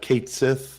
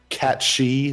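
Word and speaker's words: Cait Sith: it's got Zach it's got Kate Sith or I'm sorry cat shei whatever the you call it um it it it should be kith uh because I know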